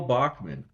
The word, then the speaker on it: Bockman: It's real Bachman.